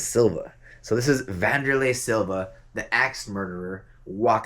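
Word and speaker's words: Wanderlei: And if you look a little higher right here, it says Wanderlay, which is actually pronounced Vanderlay. And then this over here says Silva. So this is Vanderlay Silva, the axe murderer.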